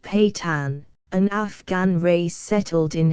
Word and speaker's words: Pathans: Pathans, pronounced Patan, an Afghan race settled in Hindustan and in eastern Afghanistan.